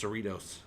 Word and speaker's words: Cerritos: Yeah, in California, Cerritos is pronounced Cerritos.